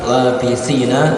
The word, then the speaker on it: لابثين: فيها أحقابا لابثين فيها jadi labithina si sa ya bacanya seperti ini, di tipis benar sa labithi, jadi bukan si, bukan she juga bukan, tapi si, benar-benar ditipiskan, benar-benar suaranya ya sa seperti itu.